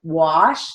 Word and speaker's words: wash: It's spelled with an A, but has an ah sound, so we're going to write it with a broad A. Wash, W-A-U-S-H.